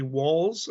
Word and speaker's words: Walz: I keep saying waltz as in the dance, but it's actually Walz as in more than one, wall.